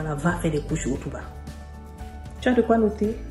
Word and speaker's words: Hotuba: va faire des couches Otuba. Tu as de quoi noter? Écris. Otuba s'écrit. H comme hôtel, O comme Oscar, T comme Tango, U comme Hugo, B comme Brigitte et A comme Agathe.